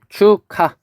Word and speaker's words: 축하: 축하 하면은 아음절의 기역과 디음절의 히읗이 만나서 얘는 발음이 축하.